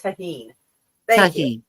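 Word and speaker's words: tahini: Levi says it's pronounced tahine.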